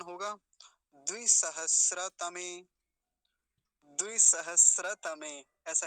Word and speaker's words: सहस्र: तो पहले इसे देखेंगे द्वि सहस्त्र अब इसको सहस्त्र नहीं बोलेंगे द्वि सहस्त्र और तम तम तो पीछे भी आया आया थाना ऊपर तो पूरा क्या उच्चारण होगा द्वि सहस्र तम द्वि सहस्र तमे ऐसा इसका उच्चारण हो